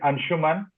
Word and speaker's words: Anshuman: My name is Anshuman. If you have trouble pronouncing it, it rhymes with Spider-Man, Batman.